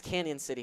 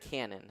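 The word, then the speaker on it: Cañon City: It is Canyon City High School, not Canon.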